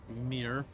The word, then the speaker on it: Mir: I don't know what Valvedek is, Mir. His name is Mir, by the way. Mir Automata. Yep, that's how you pronounce it.